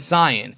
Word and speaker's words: Saiyan: like Julian from Kanzenshu, they pronounce it Cyan.